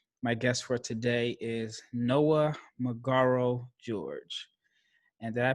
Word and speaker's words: Noah Magaro-George: draft and so my guess for today is noah mcgarro george and did i pronounce that right yeah perfect man it was